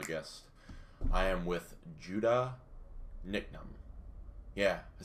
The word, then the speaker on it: Niknam: Last name is pronounced Niknam. Niknam.